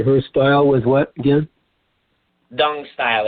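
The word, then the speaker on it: Tung: Dung style. It's in Roman letters. It's spelled T as in Tom, U-N-G, but that T in Chinese is pronounced like a soft D.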